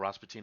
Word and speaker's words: Rasputin: the Boney M song Rasputin or raspatine as they pronounce it somebody did an amazing